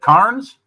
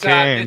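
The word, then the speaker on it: Cairns: Carnes? That's Cans.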